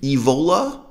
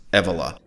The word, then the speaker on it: Evola: julius evila i prefer to pronounce his name evola so that it rhymes with ebola but sadly the name is pronounced julius evola here's a google engram